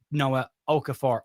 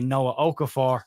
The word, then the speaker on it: Okafor: I have been told when I say Noah Okafor, it sounds like I'm saying no, so I'll overpronounce Noah Okafor just so there's not that mix up again.